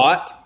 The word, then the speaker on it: THOT: thought. She's a thought, as Naomi would say. Is that how you pronounce that?